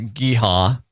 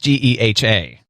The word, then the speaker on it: GEHA: And yeah, they say pronounce, and they put periods between each of the letters, but the name of the company actually is...